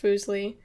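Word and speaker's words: Fuseli: and talked about foosley foosley pronounced foosley was a neglected figure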